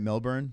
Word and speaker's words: Melbourne: I'm in Melbourne I said it right right Melbourne that's how you're supposed to say say it